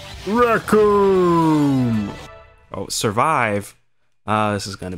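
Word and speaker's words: Recoome: His name rhymes with doom. Raccoon!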